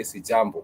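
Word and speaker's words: sijambo: The syllable J and you can say jambo. And whomever receives your greetings would simply say sjambo.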